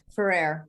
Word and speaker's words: Ferrer: vigeland and please am i pronouncing your last name correctly ferrer that's fine great yeah apologies but